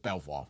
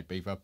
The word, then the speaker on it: Belvoir: Beaver, because I'm all posh these days, but Belvoir, isn't it? It's Belvoir, it's chav. It's spelled Belvoir. Why would you say Beaver? But it's actually Beaver, but Belvoir.